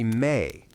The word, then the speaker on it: me: The word they used for this act of transference was me, pronounced roughly May, a concept so fundamental to Samrian theology that it resists a clean translation into English.